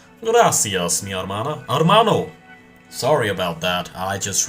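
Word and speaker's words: hermano: Why did Why did I pronounce the H? Gracias. Mana. Armano.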